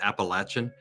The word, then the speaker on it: Appalachian: got the the Appalachian roots and the correct pronunciation is appalachin uh people say yeah people say Appalachian um